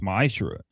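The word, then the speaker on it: מעשר: You can find this in numbers 18 and 21 and Malachi 3 8-10 means 10th in Hebrew and is pronounced maishra 10% of every penny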